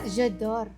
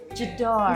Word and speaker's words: J'adore: Itu pronunciasinya Bukan, J'adore. Oh ya, Jedor.